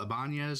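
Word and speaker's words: Ibañez: Raul Ibanez, I believe is how you say his last name.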